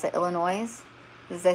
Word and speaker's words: Illinois: IL, is that, oh, I can't even pronounce it, Illinois? Did I say that right? Yeah, autocorrect. I have a new phone, and the autocorrect does not speak my language. Okay, yeah, Illinois.